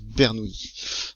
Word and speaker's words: Bernoulli: On vous dit donc que, remarquez, d'après la relation de Bernoulli, alors ça s'écrit Bernoulli, ça se prononce Bernoulli.